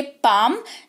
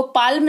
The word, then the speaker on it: palm: एम लगा हुआ है, तो एल जो है वो साइलेंट रहेगा। इसको पढ़ेंगे पाम, जिसका मतलब होता है हथेली। इसको पाल्म नहीं पढ़ेंगे, इसको पाम पढ़ेंगे।